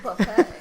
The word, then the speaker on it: buffet: Buffet. It has a T. No, so it's French. It's pronounced buffet. It's not Jimmy Buffett.